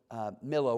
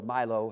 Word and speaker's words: Millo: Then did he build Millo, or Milo, however that's pronounced. I think it's Millo.